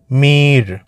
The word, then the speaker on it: মীর: বন্ধুরা আমাকে মীর ডাকে মীর উচ্চারণটা হবে একটু টেনে টেনে মীর এরকম বুঝতে পারলে পারলাম